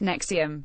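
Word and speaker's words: NXIVM: their skin the group nxi VN pronounced nexium has been operating across the u.s.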